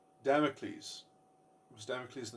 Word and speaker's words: Damocles: to you know um I said this name wrong because I'm so uneducated was it the sword of damic you know so is there's this there's the Sword of Damocles that gets further and